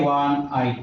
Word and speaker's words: one-eyed: For example, I saw dash one-eyed man, a one-eyed man. The reason is that the first letter, in spite of its being a vowel, it sounds wa.